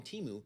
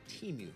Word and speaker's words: Temu: you will, from China called Temu. That's how we're going with the pronunciation, and how it competes against Amazon.